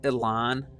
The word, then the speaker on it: Élan: the history a little bit here so it's pronounced Elan um I don't know why and I don't